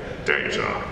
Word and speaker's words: Data: And Gene, at that point, made a ruling that whoever says any of the words on the show first, that's the way it's pronounced. And so that's how I became Data.